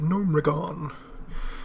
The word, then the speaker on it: Gnomeregan: master an archmage or i always call this gnomeregan and if any of you warcraft players can help me out with correct pronunciation but i think that uh i've always had like a blizzard people on streams call it numerigon so we're at 16